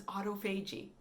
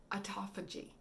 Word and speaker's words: autophagy: I thought it was autophagy. Looked like it was autophagy. It's not. It's autophagy. Autophagy. I mispronounced it.